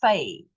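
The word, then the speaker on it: פ: And then, of course, without the dot, that is then a fay.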